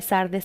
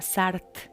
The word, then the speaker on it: Sardis: Entonces, como les decía, en la historia Sardis se escribe o se la busca como Sardes, ¿no? Y actualmente se lee Sardes también, pero también hay una como abreviación y se llama Sart.